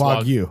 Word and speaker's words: Wagyu: It's Wagyu. No, it's Wagyu.